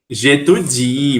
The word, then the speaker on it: J'étudie: Mas no francês, lembram que a última sílaba é sempre forte? Então vai ser como? J'étudie.